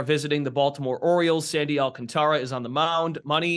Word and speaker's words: Alcantara: Yeah, it's Alcantara. Yep. And he's got 3 syllables there. So you get that first one right.